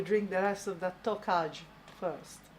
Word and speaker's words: Tokaj: the rest of that tokaj first toai toai it's the J is pronounced on I I made the